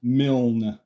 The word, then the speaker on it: Milne: I do for my shows his name is pronounced mil like the win the Pooh author AA mil